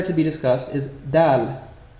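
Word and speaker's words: دال: The first letter to be discussed is Dal. This consonant letter is pronounced very crisply, and similar to a frontal D in English.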